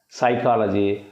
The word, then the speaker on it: psychology: is like this but I pronounce this as a psychology and here I do not pronounce the word p h it means whatever we